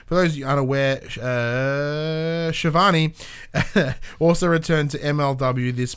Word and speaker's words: Schiavone: Former WCW announcer Tony Schiavone, because he goes in brackets, pronounced Shivani Betson, because I know you would have got it wrong, is reportedly, quote, locked into a deal with All Elite Wrestling.